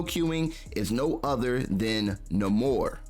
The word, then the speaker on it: Namor: is no other than Namor, or Neymar, however you want to pronounce it.